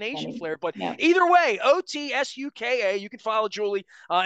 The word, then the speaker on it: Otsuka: spell your name o-t-s-u-k-a and it's not even the Japanese pronunciation so you're going to help me with that before you go right I will try um my pronunciation probably is not great but it's otsuka is the correct Japanese pronunciation so it almost sounds